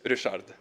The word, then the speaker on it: Rushad: to correctly pronounce it as Richard, well. But it's spelled way off. So how do we pronounce your name? Richard. Rushad. Yeah, but it's pronounced Richard. I just make it easier for everyone.